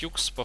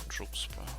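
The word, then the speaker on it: Jukspa: Да, мне кажется, правильно произносить Юкспа, хотя он не обижается, если произносить Джукспа.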